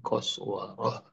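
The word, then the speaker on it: قسورة: Farad min qaswara. Lari dari mana? Lari dari seekor singa. Ya bunda kalau ada tak marbutoh di ujung-ujung, bacanya itu hak, haknya hak besar. Umurum mustanfirah. Haknya kedengaran. Farad min qaswarah.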